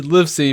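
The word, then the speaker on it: Livesey: surname is liy sorry Liv see pronounced live as in I live in a house and see I might be 5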